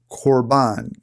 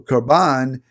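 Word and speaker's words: korban: root word from which we get the word corbin if you're transliterating that you might spell it k-o-r-b-a-n or carbon is an offering that we put on the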